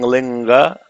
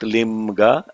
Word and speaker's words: linga: How you are saying linga, linga, linga, not limga, linga.